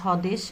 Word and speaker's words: স্বদেশ: যেমন স্বদেশ, এখানে কিন্তু বফলা আছে, উচ্চারণ হয়নি।